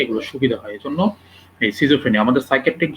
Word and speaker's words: schizophrenia: Disease, সেটা হচ্ছে গিয়ে সিজোফ্রেনিয়া। হ্যাঁ, সিজোফ্রেনিয়াকে এটার নাম সিজোফ্রেনিয়া আমরা বলি, অনেকে আমেরিকান অ্যাকসেন্টে উচ্চারণ করে যে স্কিজোফ্রেনিয়া।